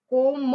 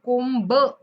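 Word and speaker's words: comb: कंगवा त्याला काय म्हणायचं कोम म्हणायच कोंब असं म्हणायचं नाहीये ओके कोमिंग माय हेर कोबिंग माय हेर नाही कोमिंग बी सायलेंट आहे आता आय के आल्यानंतर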